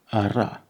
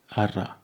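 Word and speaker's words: Araf: F at the end of words is either silent or very, very gentle. Ara, slow. Ara.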